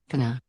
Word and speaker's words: going to: complete words going to in spoken english however we usually pronounce the words going to as kana my friends are gonna